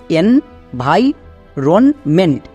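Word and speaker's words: environment: Next V আই কি হবে? ভাই। অনেকে এখানে ভি করে দিচ্ছ। বাট ভি হবে না। ভাই হবে।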